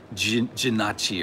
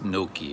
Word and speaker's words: gnocchi: and and uh it's he called it jinachi or something like that gnocchi it's i think it's gnocchi is the is the the real pronunciation but people in italy